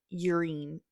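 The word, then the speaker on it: Yrene: Then in Tower of Dawn, I would call her Irene, but I've heard a lot of people calling her urine. Like really pronouncing the Y, but I still call her Irene.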